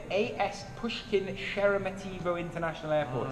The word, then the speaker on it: Sheremetyevo: Sheremetativo. I've pronounced that wrong every time I've said it so far. Sheremetyevo.